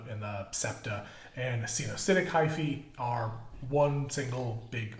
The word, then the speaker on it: coenocytic: It's a a spelled a weird one, but it's pronounced coenocytic hyphae.